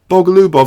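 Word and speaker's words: Bogoljubov: So basically, you don't pronounce the J, LJ, you just ignore the J, Bogalubov.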